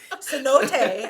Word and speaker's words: cenote: Skies you can swim in the C note Cenote I know how to pronounce that now because I just spoke to